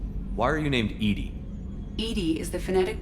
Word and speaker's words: EDI: is a jar why are you named edie edie is the phonetic pronunciation of ed that is an acronym for